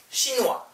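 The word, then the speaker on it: chinois: 이거 어떻게 읽어요 발음해요 신와 오케이랑 달라요 신와 신화 신 아니고 신화 오케 어이 붙어 있고 S 바로 안 나와요 그리고 이거는 이건 뭐예요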